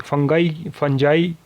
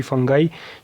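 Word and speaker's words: fungi: फंजाई कोई फंजाई pronounce करता है, कोई फंगाई, जो भी आप प्रोनाउंस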